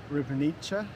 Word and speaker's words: Ribnica: Ribnica.